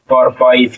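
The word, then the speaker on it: purpose: पर प इ ज परपज क्या हो जाएगा परपोज और ये ई आपका लास्ट में नहीं पढ़ा जाएगा चलिए य हमारा था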